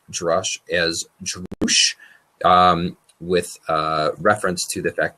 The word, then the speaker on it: Drush: the authors say that they do prefer to pronounce it as I'm saying it right now, Drush.